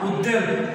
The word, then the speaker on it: উদ্বেল: যেমন আমরা যদি বলি উদ্বেল, এই উদ্বেল শব্দটি উচ্চারণ করার সময় এই ওয়াটাকে উচ্চারণ করবেন, এটা ওয়া, উদ্বেল।